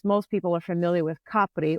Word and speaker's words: Capri: Of course, most people are familiar with Capri, or Capri as the Americans pronounce it.